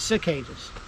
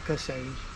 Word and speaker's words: cicadas: Cassad, I guess cicadas, not cassades.